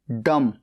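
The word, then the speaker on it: dumb: डी यू एम बी डम गूंगा यहां पर बी साइलेंट है एल ए एम ई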